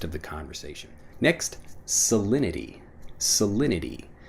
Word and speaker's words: salinity: the conversation next salinity salinity when I'm pronouncing it fast salinity even though again we have that T sound salinity becomes salinity when we're pronouncing it quickly what's the salinity of